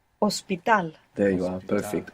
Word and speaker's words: hospital: So it's written, the H is written in convertible words, for example, like hospital, ends in AL, but it's not pronounced. You must imagine that it begins with an O.